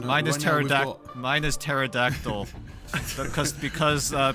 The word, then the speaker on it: pterodactyl: Mine is mine is pterodact mine is pterodactyl because because uh people don't know that the P is silent.